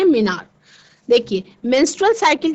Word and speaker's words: menarche: तो first menstrual cycle को मिनार कहते हैं बच्चों। इसका स्पेलिंग है MENARCHE। क्या कहते हैं? मिनार।